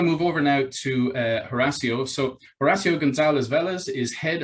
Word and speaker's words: Horacio: because if you if you were to study spanish you will know that the h is silent and so therefore my name is should be o apostrophe r a s s i o horacio that would be a